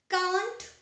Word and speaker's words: can't: Well, कांट और कैंट दोनों ही correct pronunciation है, बट we Indians follow the British pronunciation, so we call it या we pronounce it कांट.